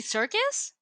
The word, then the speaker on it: Serkis: doing the ape motion motion capture stuff Andy Serkis yeah okay you said secure I was like oh sorry thank you my pronunciation is out there my bad sorry Andy